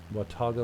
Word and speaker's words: Watauga: to look for the label wantoga that's right pronunciation watauga lake and uh looks like i want to